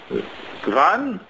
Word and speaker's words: wann: Well, it's definitely spelled with a W, but then it's A-N-N.